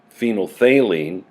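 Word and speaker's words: phenolphthalein: over a specific range phenol thaline pronounced phenol thaline changes is from colorless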